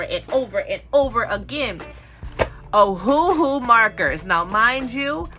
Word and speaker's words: Ohuhu: markers now mind you I used to call them oh ho ho um I don't know how I came up with oh ho ho but I just could not figure out how to say it but they it is ohoooo and this Marker set